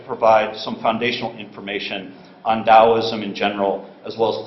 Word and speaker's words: Daoism: older way G's romanization system but it still pronounced Daoism it's an indigenous Chinese religion deeply rooted in